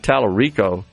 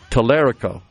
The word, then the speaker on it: Tallerico: Crockett and James uh I've been pronouncing it incorrectly. I said Terico and it's Tallerico is the way I've heard it pronounced by He's in Texas.